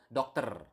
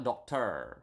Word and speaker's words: dokter: You need to pronounce the R. Okay, so dokter. Not doctor or something like that, but dokter.